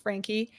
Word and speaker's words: Franke: the facts so Ms Frankie and it is pronounced Frankie Ruby yeah so she was married to I